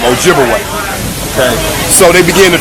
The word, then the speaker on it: Ojibwe: they twice and of course they corrupted the pronunciation of those Ojibwe people to Chippewa absolutely so Chippewa and Ojibwe that's the same people wise the European Corruption of their real name Ojibwe okay so they begin to trade of course